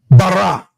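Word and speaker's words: בָּרָא: So that word is pronounced bara.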